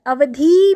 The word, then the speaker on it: अवधि: और एक अवधि जो मैंने शॉर्टली बोला, देखो मैंने अवधि में ई है ना, आपको पता चल रहा होगा, पर मैंने बोला अवधि, यानी बिल्कुल समाप्त कर दिया, ई की मात्रा को बड़ा शॉर्ट उसका उच्चारण किया।